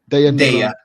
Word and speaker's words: Daya: Is that how you pronounce her name? Daya.